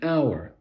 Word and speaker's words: hour: when a word begins with a silent h like an hour an honest man an honorable person but we use a